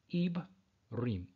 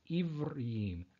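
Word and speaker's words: עברים: So in his video, he had this here, which would be pronounced Ibrim. Ibrim. Now, you'll notice that his pronunciation is different than the Torath Mosheh Jew one. The Torath Mosheh Jew pronunciation is Ivrim, Ivrim, where his is Ibrim.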